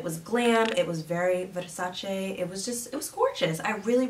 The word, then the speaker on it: Versace: She says it's Versace, not Versace. She hates how Americans say it.